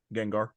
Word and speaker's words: Gengar: Um, I do want to ask you, how do you pronounce it? Gengar.